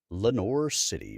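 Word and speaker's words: Lenoir City: If you guys didn't happen to be in the YouTube channel, even though the name of the town looks French, it is pronounced Lenore City by locals, despite it being spelled like a French word.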